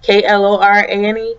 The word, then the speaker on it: Klorane: This is the Laboratories Klorane, I guess that's how you pronounce it, K-L-O-R-A-N-E, Klorane.